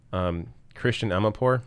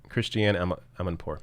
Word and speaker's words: Christiane Amanpour: Christian Amanpour, is that it? Christiane Amanpour, yeah.